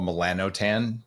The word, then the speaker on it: melanotan: for people in Australia would be something called melanotan 2 and motan it's spelled like melanin m e l a n